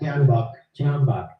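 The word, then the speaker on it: Oleg Tyahnybok: The C-14s was started as a youth wing of the Swoboda party, founded by Oleg Tenahambak. Is that how do you say his name, Max? Tianbach.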